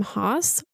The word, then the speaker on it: Haas: I think it's because my last name Haas rhymes with his first name Moz that's very thrilling for